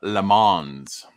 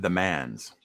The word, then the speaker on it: Le Mans: the sporting event called le mans and that is not the man's my french knowledge coming